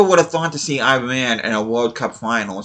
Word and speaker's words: Iran: Well, it's actually supposed to be pronounced Iran, but I say Iran. I apologize for any Iranians that are watching this, but that's just how we say it here in the U.S.